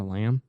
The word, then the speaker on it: lamb: A lamb?